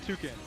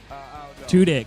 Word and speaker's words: Tudyk: She's saying Alan Tukin. That is correct. Oh, good job, Sam. I did? I said the name wrong? Tudyk.